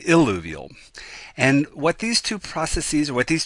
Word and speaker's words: illuvial: So you have to be careful with your pronunciation, eluvial and illuvial.